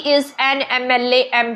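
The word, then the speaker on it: MLA: देखें ही इज एन एम एल ए एम प ठीक है तो कैसी साउंड आ रही है एम ए की साउंड आ रही है ना बोलते हुए पहले तो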